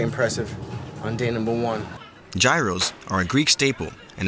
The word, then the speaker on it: gyros: Gyros are a Greek staple, and as often as I've had them, I've been saying it completely wrong the entire time, as they're correctly pronounced gyro.